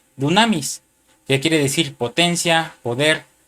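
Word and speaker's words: δύναμις: Poder, hermano, viene de la palabra del número strong G 141, que es una palabra griega que se pronuncia dunamis, que quiere decir potencia, poder, fuerza y capacidad.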